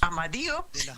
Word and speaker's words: Amadio: We talked about how to pronounce her last name. Is it Amadio? Yes, that is correct.